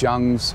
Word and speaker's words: Jung: So you saw where we started filming there at Jung's, or Jung, it's the Korean way to pronounce it, Jung's restaurant.